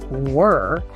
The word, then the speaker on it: were: The lesson throws in this awesome pronunciation tip for were, because apparently we should be aiming for more of a U sound, almost like a shortened or, which makes sense because were and where can sound awfully similar when spoken quickly.